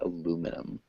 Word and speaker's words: aluminum: aluminum Alum aluminium aluminium that's really British if you want the American pronunciation we would say aluminum aluminum um yeah in England they would say aluminium but we'd say aluminum because because we're kind of lazy and any other questions